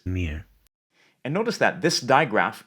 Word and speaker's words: mirë: mëngjes, This letter represents a schwa sound, and you'll see this a lot in Albanian. But notice that it's reduced and almost not heard at the end of words. mirë, And notice that this